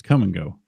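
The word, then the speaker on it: Kum & Go: Yes, it's Ku M. Come and go.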